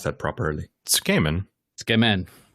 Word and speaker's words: tsukemen: You couldn't even pronounce that properly. Tsukemen. Tsukemen, right?